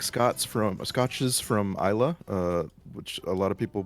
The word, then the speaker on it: Islay: So I like scotches from Isla, which a lot of people pronounce Islay, Islay, as it's an island in Scotland, right?